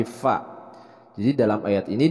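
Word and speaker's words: ف: Nah, dalam pelafalan huruf fa ini masih sering banyak terjadi kesalahan, yaitu dibacanya pi. Tapi kalau fa itu cara pelafalannya adalah bukan pi tapi fi, bukan pa tapi fa.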